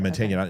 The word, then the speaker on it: Mantegna: I think it's Joe Mantegna, is how you say his name. And he was Joe Mantegna. Mantegna. Yeah, Mantegna. Okay. Yeah, the G is silent. Mantegna.